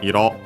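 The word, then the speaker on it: 色: We have seen it before from Iro, technically from Iro, accent on the last syllable, color.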